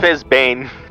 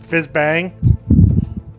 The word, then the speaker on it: Fizzbang: an but he was using fizbane I believe you'll find that he pronounced it Fizz Bang yes Fizz Bang